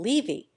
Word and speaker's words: Levy: from the English in pronouncing levy to make the first syllable rhyme with T the English Jews always